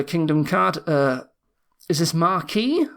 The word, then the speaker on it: Marquis: card uh is this marquee marquis no it's marquee i think it's pronounced um six cost plus